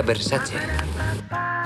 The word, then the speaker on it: Versace: a Las Vegas o dice mal la palabra se pronuncia Versace también puedes compartirle el